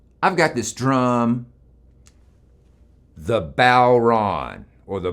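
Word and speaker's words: bodhrán: think about drums i've got this drum the balron or the boron the balron that's spelled b-o-d-h-r-a-n most drums have two very important parts the head and the shell on the bauran this is the head shell head shell and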